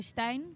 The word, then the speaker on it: Stijn: In Dutch we say Stijn.